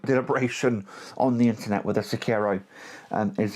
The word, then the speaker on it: Sekiro: SoulsBorne games, from Dark Souls, Demon Souls, Bloodborne, Sekiro, Elden Ring.